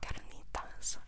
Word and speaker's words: carnitas: That doesn't make sense, but we're going to be munching on some carnitas. Can you roll your R's? Carnitas.